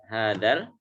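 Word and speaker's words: هذا: Hadal. Ya, yang kedengarannya adalah lamnya. Dalam penulisan harus ditambah dengan alif. Ya. Tambah dengan alif. Tapi cara membacanya hadal, enggak ada alifnya.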